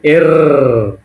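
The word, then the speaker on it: Р: তারপরে পি কে এর উচ্চারণটা কি হবে? এর।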